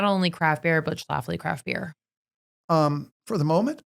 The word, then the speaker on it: Schlafly: can actually nail that L in there.